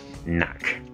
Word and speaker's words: Knack: the games this time Knack Knack Knack silent k Knack Knack um by